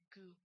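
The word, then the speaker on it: ぐ: This one is gu. Gu. It's pronounced like that O there in food. Gu. Goo. Goo. Goo. Goo. It's not like an ugh or beautiful. It's always like ooh.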